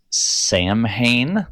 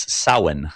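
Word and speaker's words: Samhain: one is the one everybody always says is Sam Hayne but it's not. It is that's not how you pronounce it and I did recently learn how but it has already flown my brain.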